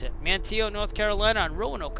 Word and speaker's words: Manteo: But anyways, that's where we're going to end part one from here in Mantio. Now I know how to pronounce it. Mantio, North Carolina on Rowan Oak Island.